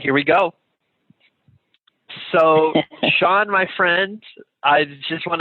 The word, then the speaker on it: Shaan: you here my name is Shawn it's spell actually SH á ñ and I live in